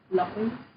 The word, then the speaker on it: lỗi: In the southern accent, when you see the wave, then you need to go down and up. Lỗi.